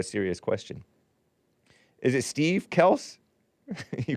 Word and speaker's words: Kelce: big bump just know for yourself right but Kel's father perg big bump was too weak to correct people on the pronunciation of their last name it's actually pronounced Kel k e LSS and not Kell hyphen C